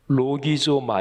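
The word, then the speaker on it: λογίζομαι: 여길 지어다 하는 뜻입니다 요길 지어다 는 헬러 발음으로 록이 소마 이라고 발음하는 데 이 표현을 좀더 한번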